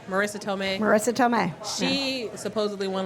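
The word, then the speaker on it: Marisa Tomei: Marissa Tomei.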